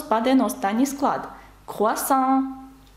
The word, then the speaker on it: croissant: «Croissant», «croissant» теж на останній склад.